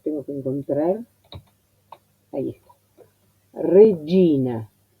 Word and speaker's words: regina: Y no es doble. Ya sé que uno le pone tanto énfasis, tanta preocupación para que se pronuncie bien, que muchos van a hacer algo Regina, como destacando. No. Piensen que para el italiano es un sonido natural. Regina, Gina, como los que se llaman Gino, Giorgio, es un sonido un fonema natural, un sonido natural para el italiano.